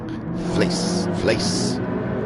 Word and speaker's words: Flace: It's like house, or like hay with a quick S. Hace. Flace.